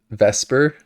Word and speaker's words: VSEPR: we're going to be talking about vesper is often how it's pronounced v-s-e-p-r and how you can